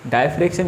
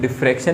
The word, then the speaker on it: diffraction: डायफ्रैक्शन या sometimes डिफ्रैक्शन भी pronounce किया जाता है।